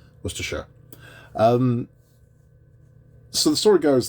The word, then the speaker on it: Worcestershire: hear that pronunciation Americans Worcestershire we don't say Shire no one says Shire except for Hobbits Worcestershire um so The Story